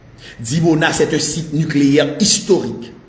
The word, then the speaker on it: Dimona: nous causé la et monsieur dam tourner dans dimona dimona c'est un site nucléaire historique extrêmement protégé et